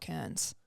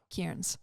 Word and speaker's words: Kearns: for the commentators because it's not Kearns. Okay. It's more like Kearns.